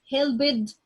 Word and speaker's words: helped: sound, and K sound, and you add D or ED, so I say it like T, or I say it like the sound of the T sound.